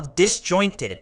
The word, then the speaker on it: disjointed: it's pronounced dis jointed with the stress on the second syllable meaning disjointed describes something